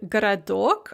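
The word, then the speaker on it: городок: so you can see this in the word garadok a little town or moyla or lyanna or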